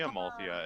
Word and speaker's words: Amalthea: It's apparently Amalthea and not Amalthea. Oh. There's a TH.